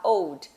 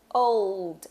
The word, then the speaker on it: old: Porque a gente tem essa tendência a falar old. Mas, na verdade, é old. Olha o Lzinho no meio da palavra aí, né? Então, é importante que ele seja pronunciado.